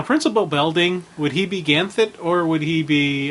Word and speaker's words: Ganthet: Now, Principal Belding, would he be Ganthet or would he be... Ganthet.